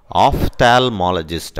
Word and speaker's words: ophthalmologist: ஆப்தால்மாலஜிஸ்ட், ஆப்தால்மாலஜிஸ்ட்டில் பார்த்தீங்கன்னா இந்த பிஹெச் இருக்குது பாருங்கள், இந்த பிஹெச் இருந்தாலே வந்து அது எஃப் சவுண்டாக மாறிடும் இங்கிலீஷில், ஃபோனுக்கு பார்த்தீங்கன்னா பிஹெச் ஓஎன்இ தான் இருக்கும். ஸோ அது மாதிரி ஓஎஃப்எஃப் அப்படி போட்டுக்கணும், இப்படி போடக்கூடாது, அப்படி ப்ரொனவுன்ஸ் பண்ணும்போது அப்படி நினச்சிக்கணும். ஆஃப்தால்மாலஜிஸ்ட் அப்படி சொல்லணும் இதை, ஆஃப்தால்மாலஜிஸ்ட்.